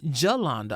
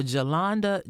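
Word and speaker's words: Jolanda: In February of 1994, 26year-old Jalanda, I'm assuming we got we're going to pronounce the J. It's J O L A N D A. So, Jalanda Jones was killed in Pine Bluff, Arkansas.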